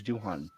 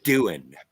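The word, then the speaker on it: Doohan: play pool at roddenberry's house with uh James Duhon no way it's pronounced doing okay well that works too all right I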